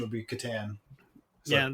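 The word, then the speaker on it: Catan: uh pronunciation would be Katan yeah that seems to be the Canadian pronunciation okay like I think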